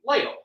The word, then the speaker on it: Lytle: Am I right pronouncing that right? Steve Lytle.